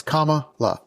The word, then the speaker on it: Kamala: No, it's Kamala.